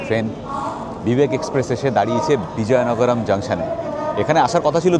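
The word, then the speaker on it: Vizianagaram: আমি উচ্চারণ করলাম বিজয়নগরম, স্পেলিং হচ্ছে VIZIA, বা যারা জেড বলেন VIZIA, বিজয়নগরম।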